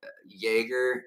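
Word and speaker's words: Jäger: There was an Eheim, and there was maybe a Jaeger or Jogger, I don't know how you pronounce the J. It's Yay, but I don't know officially in that brand like how to say it just right.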